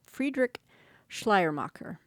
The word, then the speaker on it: Friedrich Schleiermacher: Let me repronounce his name. Friedrich Schleiermacher.